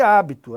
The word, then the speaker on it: hábito: Então, olha, habito e hábito é a mesma coisa, a mesma lógica, né? Quando eu falo habito, eu tenho uma paroxítona, porque a sílaba tônica é a penúltima.